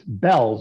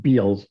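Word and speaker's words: Bealls: never pronounce this right I gather it's it's Bells although to me that's pronounced Beals the way it's spelled but apparently it's it's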